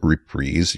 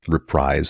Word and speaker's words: Reprise: He calls it Reprise. You can pronounce it Reprise, I guess.